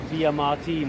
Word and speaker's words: Villamartin: But we have come to the now world famous Villamartin Plaza. Or Villamartin, if you want to say it properly.